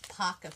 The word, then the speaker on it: Pokka: I'd be real happy these are called pakka pens they're spelled like like this and this is what